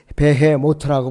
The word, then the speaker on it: 베헤모트: 그래서 비히못은 히브리어로 발음이 베헤모트라고 발음을 해요.